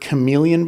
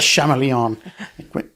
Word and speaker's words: chameleon: the main characters uh had never heard the word chameleon before he'd only read it in print so he pronounced it that's the chameleon it's chameleon another word that comes to